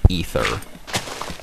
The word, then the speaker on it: Aether: There's been some dispute whether it's Aether or Aether. I'm 110% sure it is Aether, because that's this is the way it's spelled. I would say it's Aether if it was spelled A-E, like, separately, but it has that weird thing where it puts, like, the A and E together.